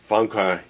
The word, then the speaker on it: Famke: this thing apparently to Jansen it's Funka Jansa Jansa the N is supposed to